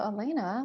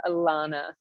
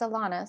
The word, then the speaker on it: Alana: show thank you and just one little correction love you say my name alana oh my goodness i'm so glad you i and i meant to ask you that at the beginning but thank you it's alana so welcome everyone that's